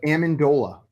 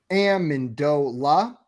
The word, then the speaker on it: Amendola: your next question how is the official phonetic pronunciation of Amendola written out I have written them all out